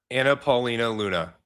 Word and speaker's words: Anna Paulina Luna: Is it not Anna Paulina Luna? Is it Anna? Anna Paulina Luna. Okay, it is.